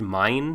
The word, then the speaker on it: Main: And then suddenly she wakes up as a very young girl called, it's pronounced Mine, but it's spelled Maine, like a main character.